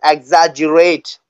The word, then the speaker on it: exaggerate: can youate your speech but this the pronunciation is exaggerate the pronunciation exagerate exaggerate exaggerate exaggerate exagerate yeah make wow thank